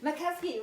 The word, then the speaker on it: Makowski: Is that how you say his name? Makowski, well done.